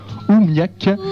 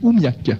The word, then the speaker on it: oOmiaq: nous donc bonsoir bonsoir donc on dit OUAC oui bah comme il a ou enfin c'est un peu la prononciation à l'anglaise o m a Q tu je pourrais vous